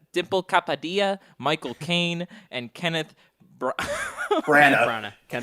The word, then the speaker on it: Kapadia: It stars John David Washington, Robert Pattinson, Elizabeth Debicki, I can't pronounce things. Capadilla. Dimple Kapadia, Michael Caine, and Kenneth Branagh.